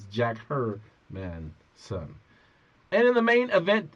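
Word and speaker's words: Jack Hermansson: You got David Branch versus Jack Hermanson.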